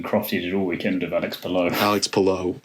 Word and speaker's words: Alex Palou: It just it's Alex Palou. Say it correctly.